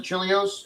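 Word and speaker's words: Chelios: Is it gonna be Is it going to be Chris Chilios or Chili? How do you pronounce it? Chilios.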